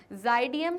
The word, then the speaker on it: Xydium: यहाँ पे x silent है तो यहाँ पे उसका प्रोनाउंसिएशन है ज़ाइडियम। सर कहते हैं लेट मी क्लैरिफाई, मैं आप लोगों को क्लियर कर दूँ कि जो स्पेलिंग है वो है XYDIUM, दैट मीन्स ज़ाइडियम। ओके, तो रिफ्रेशमेंट्स कौन देने